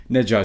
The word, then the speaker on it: Ne Zha: one question before we start with the film Nea 2.